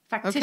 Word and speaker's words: factitious: Factitious is TIOUS is the shus. Factitious.